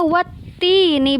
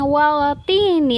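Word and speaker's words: وَالتِّينِ: Jadi dibacanya wattini, bukan waltini, tapi wattini. Jadi langsung masuk ke huruf yang selanjutnya. Wattini, alif lamnya dianggap tidak ada, alif lamnya tidak dibaca jelas.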